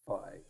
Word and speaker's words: PHAI: The ticker is Phi, right, and it's pronounced Phi, right, and you all know Fi. how to spell it. Obviously, from what I'm saying, it's obvious, right? When I say Phi, you know how to spell it, right? Phai phi. I mean, it's obvious from when I say it, right? Like everybody No, knows that I don't think so. It could be spelled like 8 different Phi.